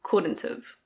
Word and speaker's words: couldn't've: Could not have becomes couldn't've. Couldn't've.